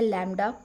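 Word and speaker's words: lambda: इसको प्रोनाउंस करते हैं लैम्डा।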